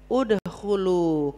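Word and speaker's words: ادخلوا: Kalau berhentinya di situ, kalimat berikutnya dibaca domah. Udkhulu, kenapa dibaca domah? Hamzah wasal. Halo. Hamzah wasalnya kenapa dibaca domah? Kan ada hamzah wasal tuh. Amanu ya kalau disambung amanudkhulu. Kalau enggak disambung hamzah wasalnya dibaca apa? Fathah, kasrah, domah. Domah. Kenapa domah? Karena huruf ketiganya domah.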